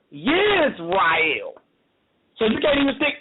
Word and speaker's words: Yisrael: But first of all, you can't say Israel because originally Israel wasn't pronounced is, as in ISIS. It was pronounced with a Y sound. Yisrael.